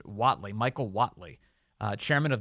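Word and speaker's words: Whatley: I think is the last name is pronounced wattley Michael wattley uh chairman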